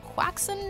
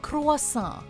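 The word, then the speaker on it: croissant: Tom we get that this French pastry is tough to pronounce but of all the passable ways to say it quacks n' is not one of them try it with us cross saw but but I was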